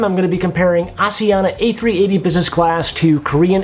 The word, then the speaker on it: Asiana: But having flown Asiana a few times and listening to the cabin crew and the way that they say it, they pronounce it as Asiana, so I think that's what I'm going to go with for the rest of this video.